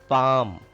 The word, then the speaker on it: palm: Palm. L is silent here.